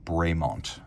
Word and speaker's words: Bremont: believe the lore and the company is generally pronounced braymont now Buckle simple branded